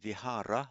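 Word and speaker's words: vihāra: We are discussing the word vihara. Note I said vhara there, not vihar vharam.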